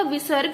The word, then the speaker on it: विसर्ग: आगे आते हैं आपका विसर्ग। विसर्ग क्या होता है, जब ए के आगे इस तरीके से दो बिंदी लगी होती हैं और ये हमारी है की आवाज देता है उच्चारण हम इससे करते हैं, जैसे कि प्रातः, अतः।